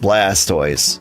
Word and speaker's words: Blastoise: Like we we all agree it's pronounced Blastoise, right?